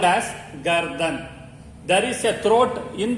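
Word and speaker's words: गर्दन: The neck is called as gardan. Neck is called as gardan. There is a throat in the neck. Throat is called gala. Throat is called gala. Neck is called gardan.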